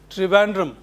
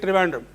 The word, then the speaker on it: Trivandrum: How is Thiruvananthapuram pronounced in English? Trivandrum. Because an Englishman could not articulate it so correctly, Thiruvananthapuram, like we Indians do, he simply said Trivandrum.